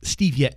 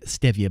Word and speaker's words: stevia: uh a fact mike it is both stevia and stevia both pronounced either way okay i won't get